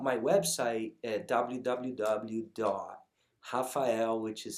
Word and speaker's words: Rafael: a port it's portuguese it's pronounced like a portuguese you know language which the r has an age sound right rafael instead of raphael right look i'll be